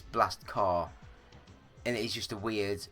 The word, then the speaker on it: Blast Corps: some some hard Corps because we don't pronounce car with the p it's it's a weird it's a weird world that we live in but yeah so I would call it blast corpse um but I think